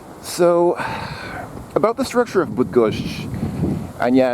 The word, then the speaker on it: Bydgoszcz: So, about the structure of Bydgoszcz, and yeah, it's actually, apparently the pronunciation at the end really does have that sh.